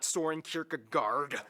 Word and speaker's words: Søren Kierkegaard: That's actually how you pronounce his name. Wow. Søren Kierkegaard.